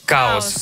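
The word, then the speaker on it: Kaos: несколько минут назад называется каос ну пишется Я так понимаю как хаос чаос хаос называется хаос да Но именно каос Ну так пому Что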